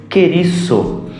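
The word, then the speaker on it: κηρύσσω: Esta palavra pregar é uma palavra no grego que se pronuncia querisso, que significa ser um arauto, proclamar.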